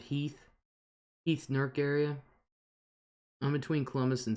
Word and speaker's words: Newark: Les, is that Nerk?